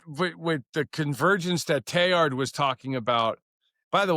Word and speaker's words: Teilhard: I do, is that the proper way to pronounce the Teilhard? Like t e i l h a r d, Teilhard?